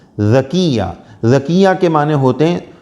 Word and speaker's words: ذکیہ: کا معنی کیا ہے۔ آئی ڈی میں تو لکھا ہے ذاکیہ ، لیکن یہ صحیح ہے ذکیہ، ذال سے ذکیہ۔ ذکیہ کے معنی ہوتے